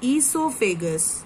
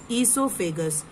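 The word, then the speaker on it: oesophagus: then you have the e so figures o is silent e so figures is o figures or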